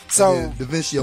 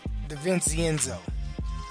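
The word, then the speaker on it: DiVincenzo: So DaVincio went crazy. Foot three. So let's talk about DaVincenzo.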